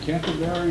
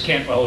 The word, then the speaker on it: Cantwell: Chris, is it Canterbury or something Cantwell? Like that? Probably got the name wrong. Yeah, it's Chris Cantwell is my name.